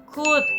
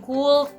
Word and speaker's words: could: Bacanya could, bukan cold atau cold atau cold.